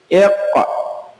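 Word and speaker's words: اقرأ: Iqra. Iqra. Nah, yang roknya itu hamzah, jadi tidak terlalu tebal, tidak sampai ke kerongkongan seperti ain. Jadi iqra, bukan sampai iqra.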